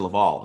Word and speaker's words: Lavelle: said your name wrong mr lavalle is it level yes sir this is level that responded i am